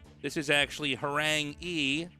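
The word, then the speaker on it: 이: This is actually Harang E. 2 in Korean is pronounced E, and so this is a Korean word that means tiger.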